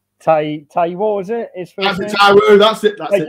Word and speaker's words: Taiwo: Stephen, can you pronounce the striker's name? Big T. Taiwo, is it? That's it, Taiwo.